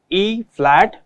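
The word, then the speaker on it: E flat: small B लिखा ना, कई बच्चे इसको प्रोनाउंस करते हैं कि वो ई बी है, दैट्स नॉट ई बी, इसको हम ई फ्लैट बोलते हैं, बिकॉज जो फ्लैट का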